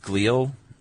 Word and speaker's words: glial: Specifically, the glial, G-L-I-A-L is how I'm pronouncing it, glial cells. You glial. are, yes. Is that correct? Yeah, you're right. No neurosurgeon. I think it's glial.